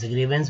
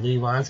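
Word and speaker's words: grievance: ग्रीवेंस, ANC को बोलते हैं, एंस वी में लगे वेंस, ग्रीवेंस मीन्स मांग, ग्रीवांस लोग भी बोलते हैं इसको। तो शुद्ध उच्चारण दोस्तों ग्रीवांस नहीं, ग्रीवेंस, जिसका मतलब शिकायत या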